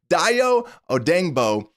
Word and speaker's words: Odeyingbo: the show you know that I'm terrible with pronunciations including States so it is Doo odeno as the new defensive end and that's what